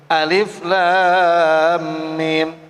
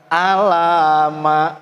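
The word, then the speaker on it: الم: Ini alif disebut alifnya, lam disebut lamnya, mim dibaca mimnya, alif lam mim.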